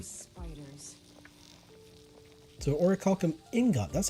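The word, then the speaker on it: Orichalcum: teach quite a bit okay okay so it's or Calcom spiders so or Callum Ingot that's how it's pronounced that sounds actually pretty decent uh let's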